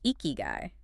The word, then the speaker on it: ikigai: It's eeky guy. Two smooth syllables. I think a lot of people get it wrong.